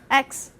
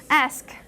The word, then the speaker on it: ask: I bet you there are people saying X, X. I want to X you. X, ask. But it's very easy that people just reorder the sound.